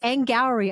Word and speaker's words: Angourie: It's Angourie, I learned. Rhymes with dowry and flowery.